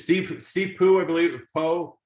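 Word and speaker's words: Pugh: Poe. Let's go Poe, not Pooh. Steve Poe.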